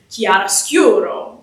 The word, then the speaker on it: chiaroscuro: So if you have the word, chiaroscuro, the second to last syllable, the penultimate syllable would get the emphasis. So it would be chiaroscuro, bam, bam, bam, bam, like that type of thing.